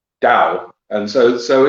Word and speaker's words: Tao: just what it is it's a soft tea um so it's dao and so so it's